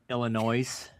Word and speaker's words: Illinois: Not enough to pronounce their state right though, right? Illinois.